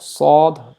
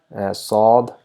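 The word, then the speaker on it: صاد: Then we have Saad, it is also equivalent to S, but we have a rounded mouth over here, Saad.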